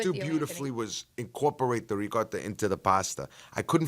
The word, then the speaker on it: ricotta: I I have this thing where now I have to add the the the vowel at the end otherwise people will I'm not going to say it like a fluent Italian person no matter what cuz I'm not born there. So what's the point? It's ricotta. It's ricotta, right?